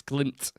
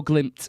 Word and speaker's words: Glimt: it's Bodo glint I'm I'm putting a p in there but it's not glimp it's glimp Bodo glimp it's just a proper